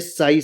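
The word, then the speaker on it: sigh: किसी भी वर्ड के अंतिम अक्षर GH या GST हो तो GH जो होगा क्या होगा? प्राय साइलेंट रहता है।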